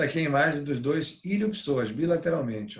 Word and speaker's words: iliopsoas: conjunto chamado de músculo iliopsoas. Iliopsoas, né? Esse P é mudo.